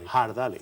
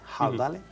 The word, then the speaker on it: Ardales: Ardales, siempre en todos los documentos castellanos, desde después de la Reconquista hasta 1845 se ha escrito con la H porque siempre se ha pronunciado con esa aspiración. Ardales.